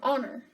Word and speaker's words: honor: U, sometimes Y, or this silent H sound, and we have some examples of all these, and egg, and animal, and apple, and ice cream cone, and hour, and honor.